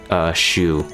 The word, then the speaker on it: Choux: strips it, she's not going to defense break Choux, which is apparently how you pronounce her name.